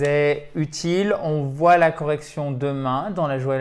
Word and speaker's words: correction: Bon, Nicole, je te propose qu'on se retrouve demain pour la correction de la dictation. Correction, dictation, accent tonique avant le shun, toujours.